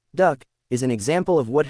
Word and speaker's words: DUKW: The DUKW, popularly pronounced Duck, is an example of